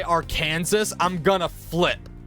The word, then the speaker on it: Arkansas: of how people pronounce Arkansas I swear if I I had to listen to someone say AR Kansas I'm going to flip it's not AR Kansas it's Arkansas does the school's atmosphere